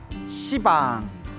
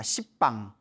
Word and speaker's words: 시방: 시방, 모든 공간을 가리켜 시방이라고 하는데요. 원래 한문으로 쓰면 열십자의 방위방자, 그래서 원래는 십방입니다. 십방. 근데 십방 하면 좀 너무 욕 같지 않습니까? 발음이 너무 억세가지고 이제 시방이라고 표현을 합니다.